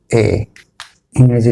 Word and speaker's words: A: জীবনের শুরুতেই আমরা শিখেছি এ, ইংরেজি লেটারের এ। আমরা এটাকে বলে থাকি এ, কিন্তু অ্যাকচুয়ালি এটা এ না, এর উচ্চারণ হবে এই।